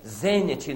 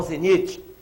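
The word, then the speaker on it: zênite: gente vem em astronomia zenet não Zenite agap um banquete bávaro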